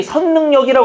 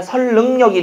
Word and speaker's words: 선릉역: 이거 뭐라고 읽어야 됩니까? 설릉입니까? 선릉입니까? 설릉역입니다. 근데 선릉역이라고 하는 사람들이 있어요. 안 됩니다. 선릉역이 아니라 설릉역이 되는 겁니다.